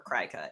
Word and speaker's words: Cricut: people who use I I don't know if it's pronounced Cricket or Cricut it's like c-r-i-c-u-t probably it's cricket and you and it